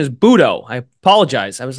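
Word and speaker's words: José Buttó: three starts for uh Jose buo budo his pronunciation is budo I apologize I was like wait is it butto right but butto just I mean it kind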